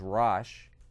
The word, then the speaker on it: Rosh: in the Bible, in the King James, the pronunciation is Rosh, and Tobolsk is there too.